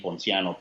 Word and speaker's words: Ponciano: that is my first name and it's pronounced but once again B RA Y a and D and my last name Ponciano people and CI a and no once again